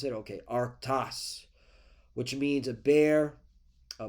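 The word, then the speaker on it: ἄρκτος: Arctas. All right, Esau. That's how you pronounce it. Okay. Arctas, which means a bear.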